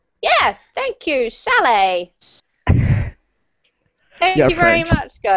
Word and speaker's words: chalet: Chalet. Yes, thank you. Chalet. Thank You're you very French. Much, guys. What does it mean? What does it mean? Nicholas, can you explain it? The chalet?